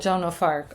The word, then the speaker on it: Joan of Arc: Joan of Arc.